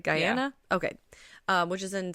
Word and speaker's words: Guyana: So, if we're going off of Jonestown, the three of them are traveling to, I believe it's Guyana. Mm-hmm. That's how you say it, right? Guyana?